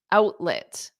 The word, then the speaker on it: outlet: exactly exactly haki Outlet out because it's a flop T out lit and then lit has that it's not let let at the end is lit lit lit outlet outlit